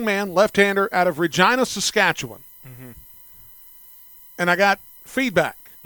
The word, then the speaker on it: Saskatchewan: Uh but we say W I N.